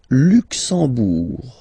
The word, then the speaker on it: Luxembourg: Le Luxembourg, okay, final G not pronounced, and then when you combine this E-M here, you get the sound en. You don't pronounce the M at all, it's this nasal en, okay?